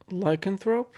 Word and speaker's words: lycanthrope: this word and you correct me if i'm pronouncing it wrong is it lycanthrope lycanthrope yes right l-y-c-a-n-t-h-r-o-p-e yeah yeah explain to me